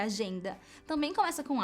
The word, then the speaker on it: agenda: Agenda, que é agenda, também começa com A, mas a sílaba tônica é a segunda, agenda, e não agenda, por exemplo, né?